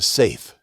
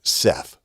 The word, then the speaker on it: Seth: one is seth or the hebrews probably said it safe but normally we pronounce it seth another uh spelling on